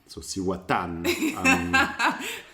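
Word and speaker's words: Cihuatán: pour two glasses of siwatan i'm not sure i'm pronouncing that correctly no the accent on the a at the end so i think for my spanish lessons it's like siwatan i am pouring two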